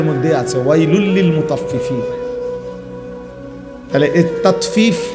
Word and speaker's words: তাতফিফ: তহলে তাতফিফ এ কথাটা বুঝা দরকার। এটা একটা গুরুত্বপূর্ণ বিষয়। তাতফিফ শব্দের অর্থ হল তাতফিফ। বাংলা শব্দটা বুঝছিনি উচ্চারণটা। ত আকার তা তত ফ দীর্ঘিকার ফি ফিফ তাত ফিফ।